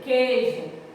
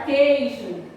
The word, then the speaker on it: queijo: Esse I aqui, na pronúncia, ele não sai.